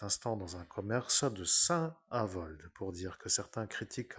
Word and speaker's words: Saint-Avold: être à cet instant dans un commerce de Saint-Avold, pour dire que certains critiquent à ma manière de dire que je dis toujours Saint-Avold, comme s'il y avait une sainte qui s'appelait